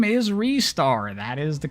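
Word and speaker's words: Ristar: RAR too cool oh technically it should be restar that is the correct pronunciation much as we don't like it it's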